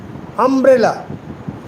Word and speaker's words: umbrella: Now, umbrella um bre lla Trisyllabic word. Okay? umbrella umbrella Okay? So, when it is a trisyllabic word, the accent must be on the middle syllable.